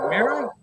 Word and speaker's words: Mera: Heroes HQ hello yes it's been pronounced mirror like mirror mirror on the wall who's the fairest of